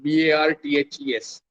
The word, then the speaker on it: Barthes: Rolla Barthes, Barthes.